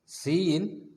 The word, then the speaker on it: cin: Cin is pronounced as Cin എന്നാണ് pronounce ചെയ്യുന്നത്.